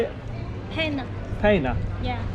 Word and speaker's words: Panna: Panna.